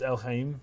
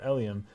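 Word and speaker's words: Elheim: because because um Ellie Ellie's name is ellium something along those lines right but it's El Heim right it's and that's how it's spelled but for some reason I was pronouncing it elium until disc two all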